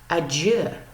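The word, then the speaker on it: adjö: of Spanish and French, because with this little symbol over the O, this is pronounced adieu.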